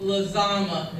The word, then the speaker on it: Lazama: Bracy said, my name is Lazama. If you start to think the word lasagna, you'll get on track phonetically.